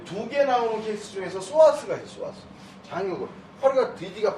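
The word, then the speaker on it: psoas: 근데 이 2개 나오는 케이스 중에서 소아스가 있어요. 소아스 장요근 허리가 뒤지가 뻗었단 말이에요. 오른쪽 소아스가 떨어졌어. 이게 P자는 묵음입니다. 푸스와스 이렇게 읽으면 안 돼요.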